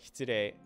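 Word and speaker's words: 失礼: But yeah, so hitsurei is definitely how you're going to hear it very, very, very, very, very, very often.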